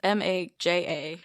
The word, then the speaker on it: Maja: They say it Maya, but it's Maja.